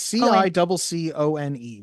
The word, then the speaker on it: Ciccone: It's Ciccone.